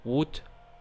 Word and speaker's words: would: And next we have silent L. It's written on the word, but we don't spell that out loud. For example, would, should, could, could, etc.